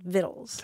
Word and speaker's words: vitals: Yeah, it's spelled like vitals, but it's pronounced vittles.